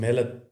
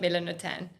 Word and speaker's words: Melanotan: I'm not going to uh synthetic peptide originally derived from melanotin. Melatonin. Melatonin two. Melanotan, not melanotan.